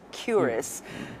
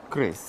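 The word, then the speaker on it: QRIS: Now, I was just told that it often gets mispronounced as curis, but it's actually Chris.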